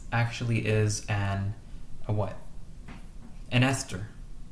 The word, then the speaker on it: ester: Ester, sorry. Yeah. And ester kind of rhymes with Easter. It looks like Easter.